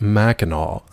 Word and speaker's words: Mackinac: But he was like, actually, it's pronounced Mackinac.